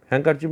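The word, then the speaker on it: handkerchief: এবার হ্যাঙ্কারচিপ স্পেলিংটা দেখো, HAND আছে, এখানে ডি সাইলেন্ট, ডি এর উচ্চারণ হবে না, অর্থাৎ HAN, হ্যান্ডকারচিপ, হ্যাঙ্কারচিপ মানে রুমাল, অর্থাৎ তিনি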